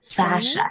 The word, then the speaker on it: fascia: were doing, and tell me if I don't pronounce it correctly, fascia. Fascia, yes.